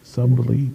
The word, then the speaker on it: subtly: some suddenly suddenly subtly subtly that's the word yeah it's not it doesn't sound like it's spelled subtly uh trying to get